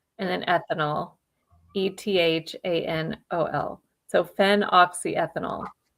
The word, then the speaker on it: phenoxyethanol: And I'll spell it too. So it's phenoxyethanol.